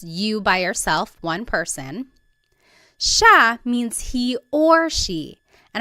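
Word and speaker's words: siya: look at the spelling it looks like it should be pronounced CIA but it's actually pronounced Sha Sha there are some regions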